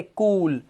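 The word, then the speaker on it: cool: आगे चलो, जब किसी वर्ड में डबल ओ आएगा तो डबल ओ का उच्चारण ऊ, ऊ, जैसे कूल, रूम, सून, जूम, ऊ की आवाज।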